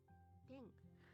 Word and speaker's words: ペン: ペン It's an easy word, and it's even pronounced the same.